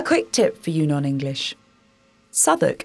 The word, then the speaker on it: Southwark: tip for you non-english sudok is not spelled remotely as it's pronounced drop the W when you say it or check the notes